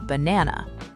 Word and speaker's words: banana: like banana instead of banana. Exactly. And that second version, banana, with the stress on na, that's how a native speaker's brain expects to hear it.